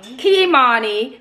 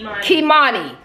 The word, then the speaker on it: Kimani: His name is Kimani. Well, you know, tomato, tomato. No, it's not Kamani. Okay, all right, okay. How do you pronounce it? Kimani.